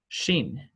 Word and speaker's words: Shin: Shin, asha, just like an SH sound.